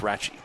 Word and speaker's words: Rathjen: This was one time I was glad I asked because his name is spelled Rathjen or Rathjen. Rathjen. But it's pronounced Ratchey. Okay. That's what I was told anyway.